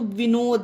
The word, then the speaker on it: Vinod: को दा कब पढ़ेंगे, तो विनोद, ये इंसान का नाम है, पर्सन का, तो इसमें डी को दा का उच्चारण देंगे।